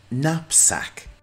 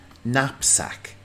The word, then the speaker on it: knapsack: Knapsack. The K in this word is silent. Knapsack.